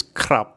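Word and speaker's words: ครับ: This is a K consonant, the raw R consonant, which makes a consonant cluster, and then the short Sara A. And this one makes a B sound as an initial consonant, but a P sound as a final consonant. So it's like krap.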